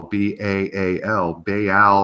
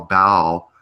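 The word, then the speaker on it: Barle: But this is spelled B-A-R-L-E, and I don't know if it's because of the English accent, but nevertheless, it's pronounced Baal on the River Baal.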